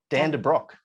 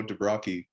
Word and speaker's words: de Brock: All right, we're back with another podcast, and we're joined by Dan de Brock. Did I say it right? Yeah, you actually did. Most people go Dubrocky.